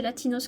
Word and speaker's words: Latinos: Elle a eu en garçon aussi Latinos, et ouais c'est ça, c'est Latinos que ça se prononce, ok.